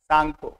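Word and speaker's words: Tsangpo: तसांगपो, आगे सांगपो आगे T silent लगता है तो टी माना जाएगा, टी साइलेंट, सांगपो।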